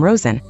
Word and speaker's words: Rosen: the common last name Rosen which is usually pronounced with a voice consonant z sound in English this itself probably comes